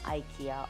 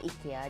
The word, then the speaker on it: IKEA: सो आई am back from आईिया और इकिया जैसे भी आप प्रोनाउंस करना चाहते हैं।